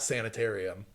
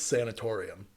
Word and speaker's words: sanatorium: yeah what sanatorium Hill it's not sanitarium it's sanatorium yeah there's no like like a sanitarium there always been sanatorium yeah okay this is